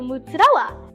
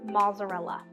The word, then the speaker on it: mozzarella: And I go, "Mutzella." And they go, "What's mutzella?" And I go, "Okay, well, the nonItalian way to pronounce mutzella is mozzarella. Can't I know that's the normal way, but I can't.